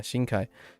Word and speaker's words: Shinkai: Just realized my pronunciation. Yeah, Shinkai.